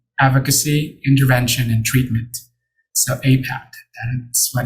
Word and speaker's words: APAIT: So we're going to keep the acronym of APAIT, but it's going to be essentially pronounced as APAT, and it will stand for Access to Prevention, Advocacy, Intervention, and Treatment.